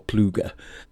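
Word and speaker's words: Plugge: Apparently he pronounced it as Pluge. It's of Belgian origin. I don't know what the correct way to pronounce it in Flemish is. I've heard it pronounced as Plug or Pluger.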